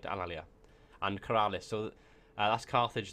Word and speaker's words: Alalia: So as you can see, the Etruscans have Alea. Oh my god, my pronunciation's gone completely to pot. Alalia. That's right, Alalia.